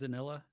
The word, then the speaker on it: manzanilla: I can't pronounce that. Um. Man, Yes. Most. manzanilla, manzanilla.